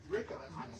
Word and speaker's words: Ricca: Pronounce that properly. Ricca.